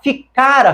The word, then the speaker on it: ficara: se eu dissesse ela ficara feliz preste atenção nesta palavra ela não tem acento então nós devemos lê-la como ficara que equivale a um